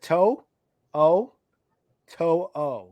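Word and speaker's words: To'oTo'o: his name too too so it's toe it's like toe o to Henry to to okay to to to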